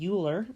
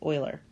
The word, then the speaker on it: Euler: In this video, we're going to be talking about Euler circuits. Now, that is how you pronounce it. A lot of people say Euler, but it's the correct pronunciation, according to what I've seen, is Euler.